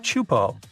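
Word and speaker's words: Teahupo'o: It's pronounced Chupo, and it means broken skulls in Tahesian.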